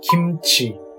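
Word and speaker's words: 김치: It would be Ki plus M plus Chi. Kimchi.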